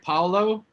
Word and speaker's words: Paolo: Paolo? Paolo, like Paolo Nutini.